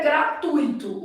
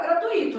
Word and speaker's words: gratuito: O certo é gratuito. O problema é que há pessoas que vão falar gratuito.